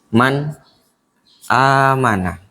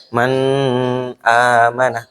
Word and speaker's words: man amanah: Man amanah, tidak dibaca dengung, tidak dibaca man amanah, tidak dibaca kayak gitu.